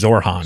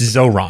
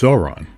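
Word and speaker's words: Zohran: What's the correct pronunciation of the first name again? I think it's Zoron. And everybody says Zorhan. Zorhan. Yeah. But it's Zoron. It's Zoron.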